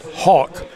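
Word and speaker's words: Hoch: With a deflected ball is Jared Hawk. He spells it H-O-C-H, but he pronounces it like you're flying, a hawk.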